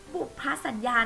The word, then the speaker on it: บุพสัญญา: ตาม แม่ ครู นะ คะ บุก พระ สัญญา บุพสัญญา นะ คะ เด็ก ๆ ใช้ เขียน แทน คำ